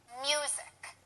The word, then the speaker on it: music: two syllables music now if we don't use any stress it would be music that's incorrect if we stress the second syllable it would be USIC and that sounds funny because that's incorrect too the correct way to say it is music and the stress is on the first syllable music do you hear